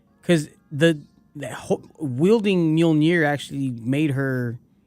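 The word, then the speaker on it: Mjölnir: refurbished so here's what how do you say it it's mjolnir i've been calling ever since the first store i've been calling it no it's mjolnir i put five dollars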